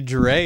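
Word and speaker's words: Drei: Dre is pronounced dry.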